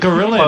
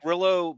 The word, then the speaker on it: Grillo: They're calling him Gorilla, which is what they did before they just pronounced it the way they should. To their credit, Grillo backs up what Gary said.